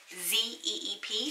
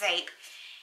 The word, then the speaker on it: Zeep: It's spelled Z-E-E-P, so it looks like Zeep, but it's pronounced Zape.